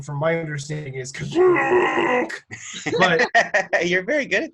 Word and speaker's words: Kashyyyk: of, I think it's, in the special, it's pronounced Kazook. Kazook. Well, I've heard they say two different ways. Someone says Kashyyyk and someone else says Kazook.